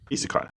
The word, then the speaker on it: isekai: Isekai.